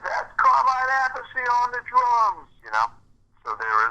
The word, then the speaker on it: Appice: Just call the album and the show, spell it out, Appice.